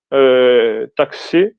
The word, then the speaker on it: taxi: De aquí realmente es una cs, la pronunciación. taxi es una C y una S, lo que se dice, no lo que se escribe.